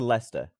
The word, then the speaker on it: Leicester: Like if you we went to Leicester, right? How do you say that? I would say Leicester now, but I said Leicester.